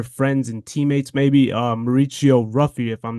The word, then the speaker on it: Ruffy: One of your friends and teammates, maybe Mauricio Ruffy, if I'm not mistaken to pronounce the Yep. last name. Mauricio, But Mauricio Mauricio Hufi. Hoofy.